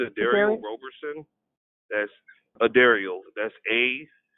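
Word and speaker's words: Dairell: is nigerian flames of dario roberson that's a dario that's a d a i r e l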